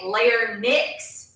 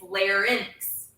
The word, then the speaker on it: larynx: We have your vocal pipe and your, lots of people say larynx. That's not really the right way to say it. It's larynx, which is kind of hard to say.